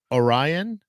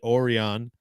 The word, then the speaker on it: Orion: said the I said the word Orion Orion is the right way to say it I said it oron every time I read it and I thought I thought there were two different words oron that's just a understandable mistake my brother uh I